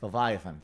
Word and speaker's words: Leviathan: is now in pre-production on I want to pronounce this right the levy thanthe Olivia fauna by Leviathan thank you which is like 70 or 80